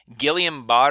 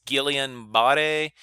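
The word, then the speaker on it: Guillain-Barré: sclerosis guillain-barre a syndrome I've heard people pronounce that a thousand times in a thousand different ways Gillian ba de so I'm gonna call it a Gillian but a syndrome but if your teacher pronounces it differently that's okay Parkinson's and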